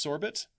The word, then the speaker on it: sorbet: It's actually pronounced Sorbet.